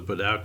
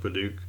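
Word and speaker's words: Padauk: as this beautiful white oak neck with a Paduk fretboard, or if you want to mispronounce it, you can call it Paduk.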